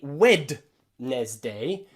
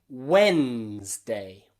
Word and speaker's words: Wednesday: Silent D can also be found in some exceptions, some special words. You probably know the word Wednesday. Wednesday. This is a crazy word in English, but it's very common because you use it every Wednesday, every week, okay? Monday, Tuesday, Wednesday. We don't say Wednesday, we say Wednesday.